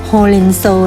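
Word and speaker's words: ほうれんそう: ล่ะ คะ เพราะ ว่า ผัก โขม ใน ภาษา ญี่ปุ่น อ่าน ว่า ho-ren-so นั่น เอง ค่ะ และ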